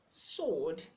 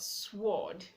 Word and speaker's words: sword: silent and overhead sword sword not sward to true the W is silence okay so with these